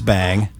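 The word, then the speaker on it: Seyn: is distinguished from being so be y n which we pronounce bang is distinguished from be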